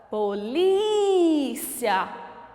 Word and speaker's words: polícia: Qual é a sílaba tônica? Polícia.